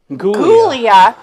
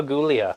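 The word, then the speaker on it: Giulia: it's actually pronounced a Julia but with a G oh I'm so sorry so basically their name is gulia isn't that like in uh The Wedding Singer Julia gulia Julia gulia so their name is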